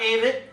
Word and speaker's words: Avett: about it's pretty neat Aid rhymes with Aid rhymes with David David the extra except it's a v TT the a it brothers and uh three threepiece band kind of